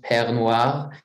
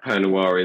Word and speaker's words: Pernoire: right exctly yeah well it's a French fantasy word and so it's pronounced French perir but basically it is